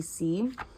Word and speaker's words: Sy: One inspiration that was huge for me in making that decision was Abby C. Abbey, and then her last name is spelled S-Y.